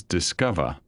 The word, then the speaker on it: DSCOVR: abbreviated to DSCOVR and pronounced rather pleasantly as Discover.